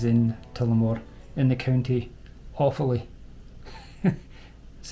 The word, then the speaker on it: Offaly: Tullamore Distillery is in Tullamore, in the county Offaly. That's how it's pronounced, folks.